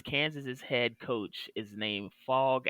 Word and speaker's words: Phog: head coach is named fog allen but the fog is spelled p-h-o-g oh nice that's like